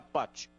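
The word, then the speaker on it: Pace: sobrenome Patch 126 então a pronúncia em italiano fica Pati André Pati é verdade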